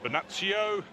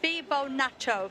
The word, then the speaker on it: Fibonacci: So 618, the pronunciation we've been given is Fibonacci. So we just missed the fee off. It was a fee, so it's not a theta.